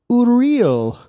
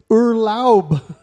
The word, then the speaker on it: Urlaub: Oh, actually, I said it wrong. Dang it. See? It's Urlaub.